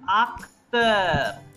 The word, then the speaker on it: acteur: A is always pronounced as A. Je suis acteur.